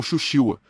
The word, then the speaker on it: Shushiwa: Um dos homens que teve o maior impacto no treinamento em artes marciais de Kambun foi um homem chamado Shou Tsuruo, pronunciado no Japão como Shushiwa, em sua escola, o Templo de Fushuanshin.